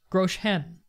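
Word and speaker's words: Groschen: line on the left Grolsch n' am i pronouncing that correctly Grolsch n' gross hen okay if the slider can't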